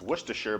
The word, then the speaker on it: Worcestershire: that sauce that no one can seem to pronounce. It's Worcestershire, by the way.